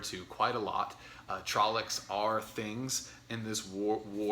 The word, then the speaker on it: Trolloc: quite a lot uh trollics are things in this war world not to take for granted well i mean not to not to not take seriously for example um and it's pronounced trollocks trollocks uh they're in the